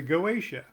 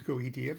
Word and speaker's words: Goetia: Next, the 72 spirits of the Goetia. Now, I pronounce it Goetia.